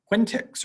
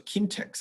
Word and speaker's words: quintic: x to the fourth, or even quintics or quintics. I've seen it pronounced both ways, x to the fifth.